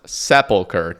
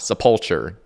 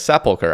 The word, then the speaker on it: Sepulchre: And it is pronounced Sepulchre, not Sepulture. I still hear that all the time. Like, come on, guys. Sepulchre.